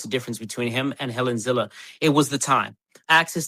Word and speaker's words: Helen Zille: So we pronounce the name as Helen Zille.